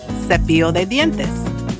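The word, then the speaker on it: cepillo: Let's try some toothbrush is sepio because e comes after the c.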